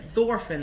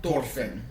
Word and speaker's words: Thorfinn: And they, instead of Thorfinn, they said like Thorfinn. Which is the actual correct pronunciation.